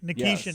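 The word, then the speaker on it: Nikishin: round draft pick for the 2020 draft, Alexander Nikkishkin, I think is how you say it, right? Nikishian. Nikishian. Okay, I was close. That's a that's a that's a very P man pronunciation.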